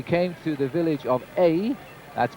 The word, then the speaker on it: Ay: In fact, Mejia, when we came through the village of A, that's pronounced, that's spelled A-Y, it's the smallest name in the French language, I think.